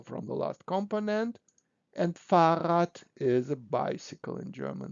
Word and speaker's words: Fahrrad: And look, in this case, so we create something like Fahrenrad, but in this case, it is easy to pronounce two r together, Fahrrad.